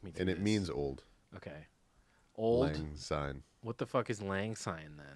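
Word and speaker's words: auld: Lang Syne oddly so the first word is spelled funny but it's just please it's just old old it's a weird way to spell old okay this is good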